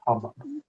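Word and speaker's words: haboob: So hubbub is spelled H-A-B-O-O-B, but pronounced hubbub.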